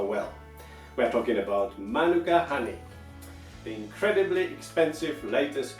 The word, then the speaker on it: Manuka: Honey by the way please pay attention to the right accent not Manuka but Manuka that's how it is